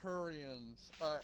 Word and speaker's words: Turian: for their people turians turians okay it was turians sorry i wasn't saying it right yeah so